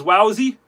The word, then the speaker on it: Wowee: can spell it properly because Jordi says it kind of differently. He says, "Wowy."